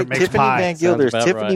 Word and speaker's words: Van Gilder: Is it Van Glider? Yeah. Gilda. What? Van Gilder. Van Gilder. Oh, Van Gilder.